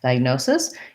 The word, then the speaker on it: diagnosis: spelling here discipline okay so diagnosis stress is on the no we have the uh letter i says its name i die dieg this is a schwa or an it diego say s diagnosis and discipline first syllable